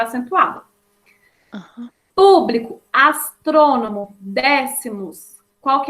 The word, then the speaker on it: público: Público. A antepenúltima, ó. Co seria a minha última, bli seria a penúltima e pum seria a antepenúltima.